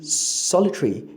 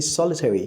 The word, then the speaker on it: solitary: If you say necessary, you've rendered the schwa. If you say solitary, you've omitted the schwa. If you say solitary, you've rendered the schwa.